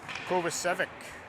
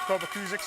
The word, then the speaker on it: Kovacic: What a glove save by Kovacic. Kovacus. Kovacus. That's how you say it. I keep saying it wrong. Face off to Kovacus's left.